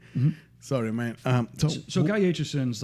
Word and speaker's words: Aitchison: It took me a while to make sure I figured it out right, but Aitchison. Aitchison.